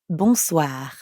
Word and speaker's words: bonsoir: For that, we'd need to say bonsoir. Bonsoir. We already know how to pronounce the first part, bon, because it's the same in bonjour. And the second part is soir. That means evening. Soir. The end sound is kind of like saying ah at the dentist.